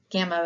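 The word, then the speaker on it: γάμμα: Gamma is pronounced G, as in gift. And later we'll learn that it also can have a nasal sound, ng.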